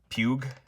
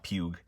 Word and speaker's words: Puig: They are Puig. I think that is how you pronounce the name now, Puig.